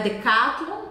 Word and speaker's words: Decathlon: gente pronuncia não é Decathlon é Decathlon Decathlon e novamente o n não será pronunciado no final e cheg a grande